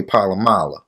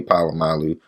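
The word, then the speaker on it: Polamalu: pittsburgh knight with troy palamala now i pronounce his name on wrong on purpose i know his name troy palamalu but him troy palamala simple as that or more raven fan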